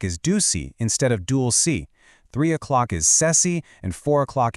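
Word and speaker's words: 시: A great little pneummonic trick to remember this is to think of the English word she, but pronounce it with a slightly softer s sound, C.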